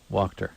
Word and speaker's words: Wachter: Yeah, W-A in Germany is Wachter. And Lithuanian, something else in there. Yeah, but it's got an L sound in there. W-A. Wachter. Yeah. No, but it's not like walk.